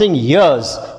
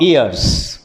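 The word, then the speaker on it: years: इयर्स कई सालों से mind you आई am pronounce यर्स नॉट इयर्स अगर आप इयर्स प्रोनाउंस करेंगे तो कान हो जाएगा याद रहे ई ए आर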